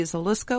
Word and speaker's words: Zalisko: And along with Freebie, we have Zalisko. Am I pronouncing your last name correctly? Yeah, that's correct.